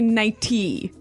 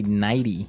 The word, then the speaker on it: nighty: night you don't say nighty you say nighty yeah you you make the t a d nighty now she offered